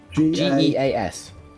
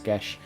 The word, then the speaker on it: Geas: Geas. Geas. Gas. Apparently it's pronounced Gesh.